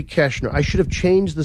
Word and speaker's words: Koechner: go back with Dave catch nur whammy right Dave whammy is it that hard Koechner it's because it's pronounced incorrectly it should be Cashner I should have changed